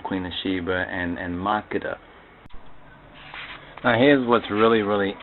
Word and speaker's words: Makeda: of Sheba and and Maka Maka that's the prop pronunciation though I know some would pronounce the name as Makita but most those speakers who pronounce as Makita most likely are not mhar or Ethiopian speakers but the story of